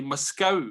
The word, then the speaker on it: Moscow: And they always visited a place, there's a tiny hamlet near Galston where I come from, which is pronounced locally Moscow, but it's spelled M-O-S-C-O-W.